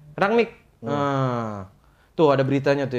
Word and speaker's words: Rangnick: Gimana bacanya? Rangnick.